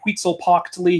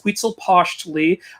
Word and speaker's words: Huitzilopochtli: I would say Huitzilopochtli. He would say, it's Huitzilopochtli.